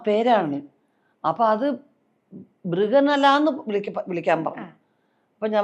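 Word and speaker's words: ബൃഹന്നള: ആദ്യത്തെ പടത്തിൽ അതിന്റെ ഡാൻസ് മാസ്റ്റർ ആ ഡാൻസ് മാസ്റ്ററെ മൃഗന്തള എന്ന് വിളിക്കാൻ പറഞ്ഞു മൃഗന്തള അപ്പോ മൃഗന്തള എന്ന് അവരുടെ ഉച്ചാരണം മൃഗനല്ല അതായത് അർജുനൻ ഉർവശി ശാപം കൊണ്ട് അർജുനൻ ഒരു പെണ്ണായി മാറിയ ഒരു ഒരു സംഗതിയുണ്ട് കഥയിൽ ആ പേരാണ് അപ്പൊ അത് ബൃഗനല എന്ന് വിളിക്കാൻ പറഞ്ഞു അപ്പോ ഞാൻ പറഞ്ഞു നമസ്തേ മാസ്റ്റർ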